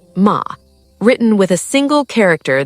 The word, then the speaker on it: ma: The third concept is ma, pronounced ma, written with a single character that depicts a gate with the light of the moon shining through it.